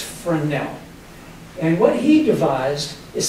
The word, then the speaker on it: Fresnel: for now the name you would think it's pronounced Fresnel but it's friend now and what he devised is something that was